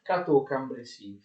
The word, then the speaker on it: Cateau-Cambrésis: sulla E di Cambrésis e la S alla fine non si pronuncia.